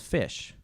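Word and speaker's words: Phish: I was introduced to this new band called Fish. Weirdly spelled with a ph.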